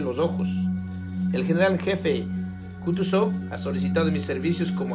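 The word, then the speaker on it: Kutúzov: príncipe dijo Ana Pamplona el general kutuso repuso pronunciando la última sílaba so como un francés quitándose el guante de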